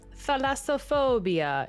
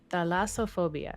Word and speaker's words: thalassophobia: it like deep deep deep you know uh pronounced how to say this guy thalassophobia is how he said it in youtube the lassophobia yeah so sometimes i get caught in these